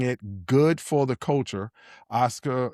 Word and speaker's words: Osaka: Osaka?